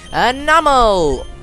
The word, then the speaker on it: Numel: catch a new Pokemon, which is gonna be Anomal, because that's how I hear everyone pronounce it, because I pronounce it actually as Numel, because that's my personal way of pronouncing it, because for me it sounds way better than Numel.